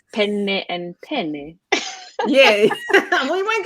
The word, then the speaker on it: penne: you that don't know, like penne, two N's, Penne, is the type of pasta. But if you don't pronounce that double N, then all of a sudden you have a male appendage.